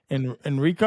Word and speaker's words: Enrico: In a related case, the court sentenced another German suspect identified only as, how do you pronounce that? Enrico?